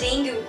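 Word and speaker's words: dengue: strange pronunciation of द डेंगू डेंगू को हम press करते हैं डेंगी तो ये सब डेंगू डू कर रहे हो तो ये गलत है मतलब ऑफकोर्स ये गलत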